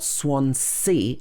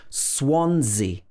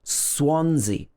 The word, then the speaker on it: Swansea: wales in south wales the first s is pronounced s and the second s is pronounced z it's not swan c it's swansea the stress is on the first syllable swansea swansea swan like that